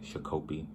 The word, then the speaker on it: Shakopee: It's a guy, I want to say from Wisconsin, but it's in Shakopee. Some people pronounce that Shakopee.